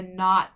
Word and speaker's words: knot: and it's just mid-dull k-n has a silent k so it's not like i tied a knot in my shoelace gn is just a